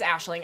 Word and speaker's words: Aisling: It is, and Cade, it is Aisling. I knew I was saying it wrong, and also my allergies are horrible today, so I'm like, I'm not even gonna try.